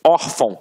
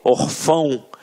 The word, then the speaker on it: órfão: Até mesmo porque se fosse um acento, a gente não ia falar órfão. A gente ia falar o quê? Orfão. E não é o caso. Então aqui, reparem que a sílaba tônica está na penúltima sílaba. Por isso é uma paroxítona. E uma paroxítona terminada em ditongo. Portanto, acentuada.